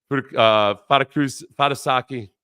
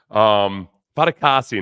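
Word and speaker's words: Fatukasi: So Fadakasi. Fadakasi, not Fadasaki.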